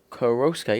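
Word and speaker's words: Koroška: If I move this down to Koroska, or whatever this is pronounced, Koroska, yeah, I was right, okay.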